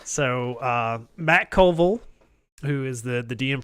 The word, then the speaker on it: Colville: is wanting some clarification matt covell or matt mercer what did i say it's matt colville okay so not yet